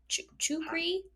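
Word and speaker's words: Czuchry: Chu how do you how do you say this it's CZ u c HR y chukri not the person it's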